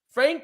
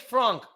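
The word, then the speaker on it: Franck: you say f-a-r n-c-k so it's probably like frank okay either way um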